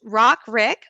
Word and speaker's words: RICQ: of you have wondered how do you say this crazy um an acronym but it's rock rick remote in person in-person